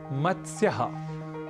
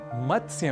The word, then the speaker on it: मत्स्य: एक शब्द है मत्स्य यहां मत्स्य में त स और य इन तीन अक्षरों या व्यंजनों का संयोग है इसलिए इसका उच्चारण हमें थोड़े ध्यान के साथ करना होता है अक्सर हम इस शब्द का गलत उच्चारण कर बैठते हैं और कहते हैं मतस्य मतस्य पालन इस तरीके